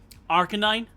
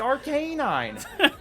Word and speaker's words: Arcanine: Arcanine.